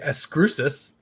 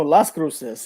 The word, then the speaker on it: Las Cruces: to pronounce properly but i'm going to say escrusis and uh the comic book g-spot oh las cruces yeah that's like a city in new mexico i think oh las